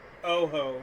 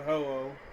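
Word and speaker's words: Ho-Oh: mispronunciation maybe a colloquialism Oho not hoo ow really yeah it's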